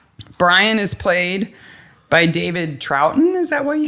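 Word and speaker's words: Troughton: Now, before we go on though, we should say Brian is played by David Troutton.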